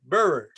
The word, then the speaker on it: Buhrer: pleasure just tell me did i pronounce your surname right bearer that's sufficient it gets pronounced in many different uh different manners uh you you're one of the closest okay i feel happy